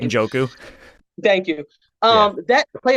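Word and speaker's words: Njoku: Uncle Jewel I could never say his name joku thank you um that play alone like that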